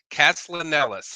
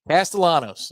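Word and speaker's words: Castellanos: Thomas's last name wrong cast lellis how is that is that close castalanos yeah castalanos excuse me castalanos so I want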